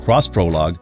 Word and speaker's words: X Prologue: concept vehicle known as x prologue pronounced cross-prologue which is a crossover